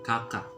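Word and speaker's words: kakak: bahasa it would be kaka okay one more time it would be just like the soccer player you know the soccer player in ac milan remember that ricardo that's how you pronounce it okay okay one more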